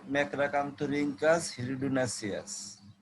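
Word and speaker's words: Macracanthorhynchus hirudinaceus: প্রাণীটা হলো এরকম, যেটা ক্ষতি করে মানুষের, ম্যাক্রাকান্থোরিঙ্কাস হিরিডুনাসিয়াস। আমি উচ্চারণটা আবার বলতেছি, ম্যাক্রাকান্থোরিঙ্কাস হিরিডুনাসিয়াস।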